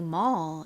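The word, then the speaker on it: mall: 쇼핑몰 할 때 그 머 이죠 한국식으로는 몰이라고 하고 영어 식으로는 오 발음보다는 살짝 어에 가깝게 발음이 됩니다 그래서 머 머 요렇게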